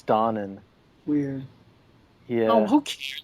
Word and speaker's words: Donen: That's What did actually you not learn how in you school pronounce today? his name. It's Oh, Donen? what? It's dawning.